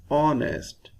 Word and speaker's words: honest: ISJ an honest man we shall write here an because H is silent and when we produce when we pronounce this word we say honest the first sound is